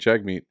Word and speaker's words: Jagmeet: you could- Like, it's been pronounced 2 different ways. Jugmeet and Jagmeet.